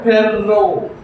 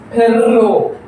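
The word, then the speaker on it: perro: Double R double R പെർറോ പെർറോ.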